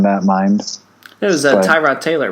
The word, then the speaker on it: Tyrod: yes that's it because everyone pronounced it ty rod taylor but i also heard from like you know the snobs that are like it's jif not gif or whatever pronunciation police you have out there that it's tered taylor not no it's not that i'm sorry